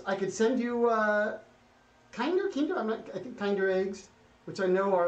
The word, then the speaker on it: Kinder: are still being kinder kinder is how you say okay kinder eggs chocolate